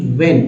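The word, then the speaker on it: when: substances become resources only व्हेन, इसमें देखिए H silent है, मैंने बता दिया है, WEN ही पढ़ना, व्हेन देयर ओरिजिनल फ्रॉम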